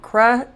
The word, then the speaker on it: crutches: Crutches. Yeah. So the TCH is together. That T is silent.